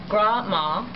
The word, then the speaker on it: Grandma: One of the stories I will never forget was when Grandma, or we pronounce it Gra-Ma, and still do, was out picking berries on the side of the road.